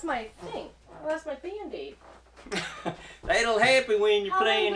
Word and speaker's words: Band-Aid: No, you say Band-Aid, but it's a Band-Aid. She's putting the emphasis Band-Aid. Emphasis Band-Aid. on the wrong syllable.